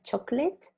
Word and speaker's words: chocolate: you very much only one tiny detail the pronunciation of chocolate it's like chocolate chocolates yeah chocolates so who